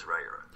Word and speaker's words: Riyria: So you can pronounce it another way. The way I do it is Ryura.